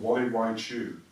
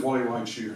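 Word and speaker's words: Gualeguaychú: He's gone one weekend to a place called Wally Wai Chu, and that's spelled with a G.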